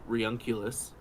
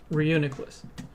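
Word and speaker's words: Reuniclus: it could be from Reunculus. Reuniculus. Reuniculus. Yeah. I was pronouncing it like homunculus in my head this whole time. I think it's like like unite.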